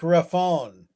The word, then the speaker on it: Rapone: That's pronounced Mike Raffone. Oh, Raffone. I got you.